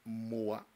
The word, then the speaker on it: Meaux: igreja, a igreja de Moa, né? Mo, quer dizer, Mo, se escreve Moax, né? Mas é Mo que se pronuncia, a igreja de Meaux